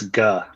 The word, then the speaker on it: Ge: Yeah, it's ga. I'm ga. And the the ga is spelled like g u h or pronounced g u h.